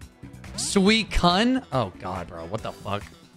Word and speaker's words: Suicune: not pronounced suicune suicune how'd you think you pronounced it sakhoon thank you sweet cun oh God bro what the ever some people say sweet shun well those people are stupid surprise sweet cutest